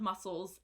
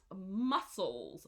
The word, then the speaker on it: muscles: so the pronunciation of muscles is we don't pronounce the C sound because English is a terrible language we have extra letters all the time that we don't need so it's pronounced muscles muscles and this is